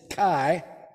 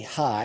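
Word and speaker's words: חי: it judaism pronounces it chi or actually hi it's like that's looks like c-h-a-i but it's actually pronounced hi and the meaning of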